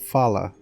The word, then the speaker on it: Falah: I mean, I know who we are, but I just forget how to pronounce it. It's Falah is the name.